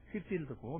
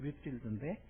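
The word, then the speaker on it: Whitefield: 그는 그 유명한 조지 휘필드와 함께 영국 발음은 휘필드고 미국 발음은 휘필드인데 이 조지 휘필드와 함께 당시 미국의 대각성 운동을 이끌었던 지도자 중에 한 사람이었습니다.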